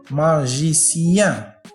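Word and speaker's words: magicien: ما جي، نعم، ما جي سي يان، ماجيسيان، ماجيسيان، نعم، ماجيسيان، وتعني ساحر، ماجيسيان. كيف ننطق هذه الكلمة؟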